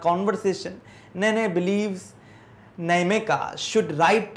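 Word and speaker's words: Nnaemeka: अब देखिए नमेका ना, ननेमेका नहीं बोलना, यहाँ पे एन साइलेंट जाएगा ना, नमेका बोलना है।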